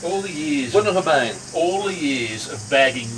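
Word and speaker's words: Bunnahabhain: Bunnahabane. All the years of bagging me. I can't pronounce it. Yeah, bagging me for home How do you pronounce that? You're the wine expert. Bunnahabane.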